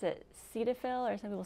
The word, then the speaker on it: Cetaphil: talking about a little earlier yeah um i pronounced it cetaphil or some people say cetaphil it's c e t a p h i